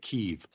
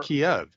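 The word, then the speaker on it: Kyiv: me absolutely batty because they're pronouncing it keeve everyone's pronouncing it keeve now and i'm like wait did they change their name what happened to kiev you know what i've been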